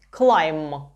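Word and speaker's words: climb: увагу на те що у слові клеєм буква b не читається Якщо у нас буквосполучення м бі б у ньому не читається клайм шосте and співати чи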